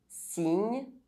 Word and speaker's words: cygne: Inside French words, Y can be pronounced I or Ye. Signe.